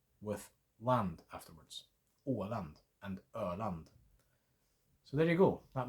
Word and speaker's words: Öland: Åland and Öland. So there you go. That might help you pronounce those names as well.